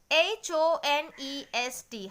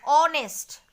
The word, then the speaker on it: honest: Okay, H-O-N-E-S-T, hide H and it will be honest.